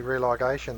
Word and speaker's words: religation: In our archive, you'll see Religation there. It looks like the word religion, but Jeffrey actually makes a point of adjusting the pronunciation, religation, so you would know what it meant.